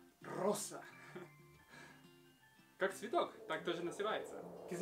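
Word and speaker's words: Rosa: Анастасия, Анастасия, Ева, Эва, Регина, Регина, Анжела, Анхела, Елена, Елена, Роза, Роса. Твердая «р» и «с» мягкая. Роса.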